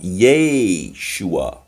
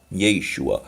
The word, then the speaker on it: Yeshua: write Yeshua because it's written as it's it's pronounced you know Yeshua Yeshua um not because you you don't you know